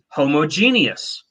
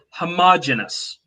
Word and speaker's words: homogeneous: Some people pronounce homogeneous. Other people pronounce it homogeneous.